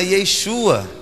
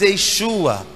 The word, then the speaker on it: Yeshua: O tempo passou, veio o grego, e o grego não usa o sh do Yeshua, então o grego ele se tornou Iesus.